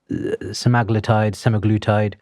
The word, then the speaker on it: semaglutide: But it really, and the first one we heard about was Ozempic, semaglutide. How do you pronounce it?